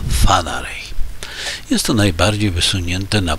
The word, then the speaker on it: Whanganui: No niestety, otóż po konsultacjach z moim przyjacielem z Nowej Zelandii, który ma korzenie maoryskie, okazało się, że prawidłowa wymowa to Whanganui.